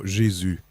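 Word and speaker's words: Jésus: Jesus and French Canadian is it Yu or is it no jizu jizu yeah I'm French Canadian I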